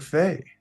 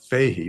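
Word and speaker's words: Fahy: it's people pronounce it fee he but it's actually pronounced fay uh and the h is silent but they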